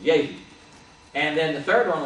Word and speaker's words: Jehu: We call him Jehu because we don't pronounce the J. We pronounce the J instead of the Y sound, but it was Jehu.